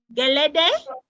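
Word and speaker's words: Gẹlẹdẹ: Because just like in, I'll make sure I'm pronouncing it right, Geleday? Yes, correct. Geleday, it is men who do the dancing in Jonkono as well.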